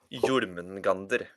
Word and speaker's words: Jörmungandr: And then you're fighting the six monsters like Loki, Hel, Surt, Nidhogg, Jörmungandr, and Fenrir the wolf. Jörmungandr. That's how you pronounce it.